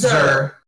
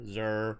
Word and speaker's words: Zur: Okay, I've been calling it Zur. Yeah, everybody tries to put an accent on it because they're like, oh, it can't just be phonetically what it says, so they try to fancy it up.